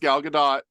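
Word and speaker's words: Gal Gadot: again everybody says GD her name is actually pronounced galgadot um I've been waiting for someone to say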